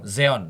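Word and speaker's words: Xeon: Intel bacanya gimana sih, Pak? Sion. Seon Zeon. Zeon Zeon Zeononel Zeon. Iya. Zion.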